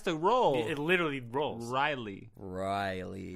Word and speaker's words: Ryley: It's supposed to just roll off the tongue. Say it. Riley.